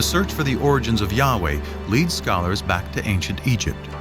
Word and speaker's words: Yahweh: which in English would YH wh which we think were probably pronounced something like Yahweh but Yahweh only appears